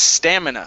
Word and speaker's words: stamina: um this word here this is stamina stress is at the very beginning so physical stamina physical